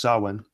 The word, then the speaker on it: Samhain: look at Halloween or soin because it came from this Celtic Festival sulwon pronounced saman as a Gillick festival